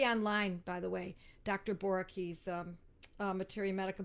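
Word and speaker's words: Boericke: that may be online by the way dr boerke's materia medica borah key is spelled b-o-e-r-i-k-e uh the person is quarrelsome obscene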